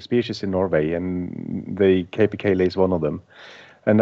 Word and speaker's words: capercaillie: In Norwegian, it's tiur, but the way we pronounce it in English is capercaillie.